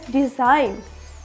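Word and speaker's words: design: आ जाए तो क्या होगा तो ते हैं डिजाइन क्या हो रहा है डिजइन तो ची यहां पे क्या है साइलेंट है तो जी के बाद एन आएगा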